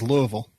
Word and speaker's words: Louisville: other news stuff off correct pronunciation is louisville it's like louisville slugger i don't i think